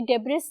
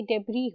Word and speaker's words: debris: The word debris mean, debris जो होता है उसमें S साइलेंट होता है. याद रखो, ये debris नहीं होता, ये debris होता है.